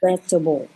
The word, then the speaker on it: vegetable: to practice it so we're going to say it in three syllables vegetable all right vegetable vegetable vegetable vegetable vegetable